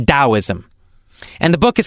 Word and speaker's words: Taoism: about it so it's spelled with a t but pronounced as a d I don't know why